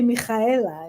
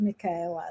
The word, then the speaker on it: Michaela: from I speak Hebrew, so in Hebrew the ch is pronounced differently. So I want to say Michaela instead of Michaela.